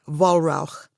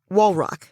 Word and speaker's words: Wallrauch: So it's like, if it was German, if you pronounced it the German way, it would be Wallrauch. Okay. It's ugly. Holy smoke is what it means. So ugly. But we say it like bedrock, Wallrauch.